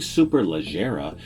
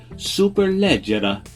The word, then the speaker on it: Superleggera: radar cars family touring super legera or properly pronounced in italian superleggera is an italian coach